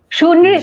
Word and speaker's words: সুনৃত: এবং একই সঙ্গে আমাদের সুজন, ওর আগে যে শব্দটা সেটি উচ্চারণ করতে খুব আমার কষ্ট হয়, সেটা হচ্ছে সুনৃত সুনৃত, সুনৃত হ্যাঁ।